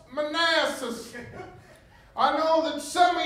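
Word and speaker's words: Manassas: in which this battle will be fought is Manasses it is pronounced Manasses I know that some of y'all have been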